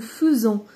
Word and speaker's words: faisons: Je fais, tu fais, il fait, nous faisons. Faisons. Faites attention, ça s'écrit AI, mais ça se prononce E.